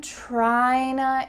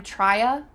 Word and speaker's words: tryna: I'm tryna improve my pronunciation. You can't say I'm trya, I'm trya. It doesn't feel and sound as smooth.